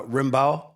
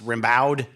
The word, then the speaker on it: Rimbaud: runner actual rambo or more domestically probably pronounced arthur uh rimbaud i don't believe it's pronounced rebowed um but the rambo